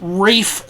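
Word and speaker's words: Ralph: uh the composer i believe his name is pronounced roland h prichard and the arrangement was done by uh british composer uh rafe vaughn williams that's yeah that's rafe spelled r-a-l-p-h he was very insistent on that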